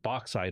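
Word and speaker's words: bauxite: uh Mine The Ore which is called boxid ore a little trivia here and it's spelled b a u xit t not b oxit boxid or to make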